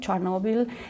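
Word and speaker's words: Chornobyl: the catastrophic transcription of the Russian name of the place does not indicate that today is part of Ukraine which implicates a differently written and pronounced name charnival and the most contaminated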